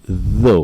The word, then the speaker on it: though: alright so yeah though though when you see though you don't see so you see though so it's actually voiced alright alright what else